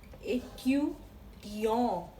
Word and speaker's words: étudiant: Well, of this is étudiant. Étudiant. If you look at the pronunciation, it sounds like A. A in English and A in Hindi. A.